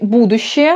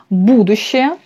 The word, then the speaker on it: будущее: Le futur, c'est будущее, l'accent sur ou, будущее, pour bien prononcer.